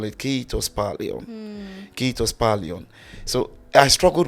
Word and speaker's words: kiitos paljon: It was the first Finnish word that I learned, and I was not pronouncing it correctly. I was a kiitos palia.